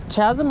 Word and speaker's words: chasm: Hey, is it called chasm or chasm? Chasm. Chasm. Okay. And Spelled CH, but pronounced with a K.